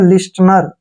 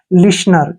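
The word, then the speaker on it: listener: पर गलत पढ़ते हैं देखिए इसको पढ़ते हैं लिनर जो कि गलत है देखिए एल आई का उच्चारण हम ली के रूप में करते हैं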